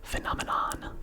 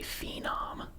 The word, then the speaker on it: phenomenon: Because we do say phenom. That kid was a phenom in his day. But if we're going to pronounce the whole word, it's phenomenon. With the short E as opposed to the long E.